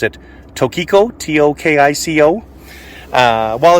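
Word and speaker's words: Tokico: piston calipers, and these are see how you pronounce it, Tokiko, T-O-K-I-C-O.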